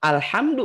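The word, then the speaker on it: الحمد: Tapi kalau Ibu berhenti di ar-rahim, tetap alhamdu bacanya.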